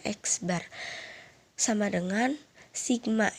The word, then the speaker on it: X bar: Itu dibacanya X bar.